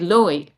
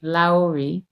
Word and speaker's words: Louhi: little bit of searching because she's usually portrayed Loey Loey excuse me Lowi the witch we're talking about the witch